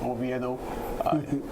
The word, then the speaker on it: Oviedo: Yeah, you can find me on Instagram, DERICKOVIEDO, pronounced Oviedo.